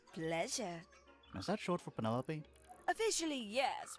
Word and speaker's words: Penelope: Is that short for Penelope? Officially, yes. But I never can be bothered with all four syllables of it.